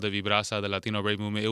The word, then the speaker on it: Vibrasa: Vibbrasa.